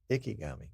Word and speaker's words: Ikegami: Ikegami? Ikegami? I don't know. Shows in his setup is 4320 P30. Can you imagine 4320 P60 or P240? Ikegami. Or Ikigami. Ikigami.